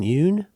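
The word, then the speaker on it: Yeun: Do you say Stephen Yoon? I think so. It rhymes with Rune.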